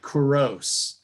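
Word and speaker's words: Couros: say his name it's c-o-u-r-o-s so it's like corrose c-o-u-r-o-s and the song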